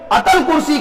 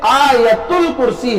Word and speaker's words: آیت الکرسی: ایک آیت مبارکہ ہے جسے لوگ اتل کرسی کہتے ہیں، حالانکہ ایک غلط لفظ ہے، اتل کرسی نہیں ہے بلکہ اس کا صحیح جو تلفظ ہے آیت الکرسی ہے، آیت الکرسی کہنا چاہیے۔ بڑی عظیم وہ آیت